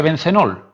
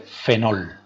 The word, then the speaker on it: fenol: Y no se dice bencenol, sino se dice fenol, ¿vale? Mucho cuidado, se llama fenol.